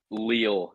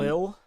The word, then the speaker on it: Lille: Chelsea won, but Lille did not score. So It's pronounced 1-1. Lil. Is it Lille?